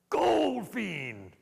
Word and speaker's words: Goldfein: I arrived and I had no idea that my name was actually pronounced Goldfein drive on out here